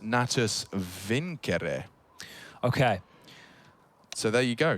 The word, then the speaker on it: Natus Vincere: navi's full name and want to say it correctly as in the Latin uh it's actually pronounced natus Viner okay so there you